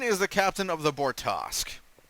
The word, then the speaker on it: Bortas: like so like she constantly calls it the borusu the Boris The Good Ship of borcu you know like it's the bortas that's how it's pronounced bortos boros it's not